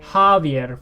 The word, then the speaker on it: Javier: So as we heard from Javier, the J sound, or the J letter, is pronounced with an H sound in Spanish.